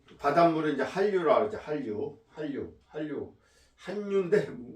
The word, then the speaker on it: 한류: 한 자 찬 바닷물은 한류로 한류 한류 한윤데 우리말은 한류라고 발음하죠 이게 우리나라가 자음적변 현상이 있어 가지고 선생님도 초등학교 아이들 가르칠 때 참기 어려워요 이게 한류라고 써놓고 읽을 때는 한류라고 우리가 이제 또 한식이